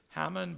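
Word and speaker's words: Haman: of the bad there a guy called hmon or some have pronounced his name Hammond but we'll call him hmon hmon is the adversary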